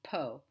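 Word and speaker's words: פה: can just remember this the first pronunciation is has an o sound po po means here like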